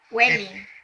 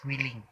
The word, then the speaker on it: willing: niya ng mga words Welling episode 1 willing ang tamang word is willing Welling paan niyong sabihin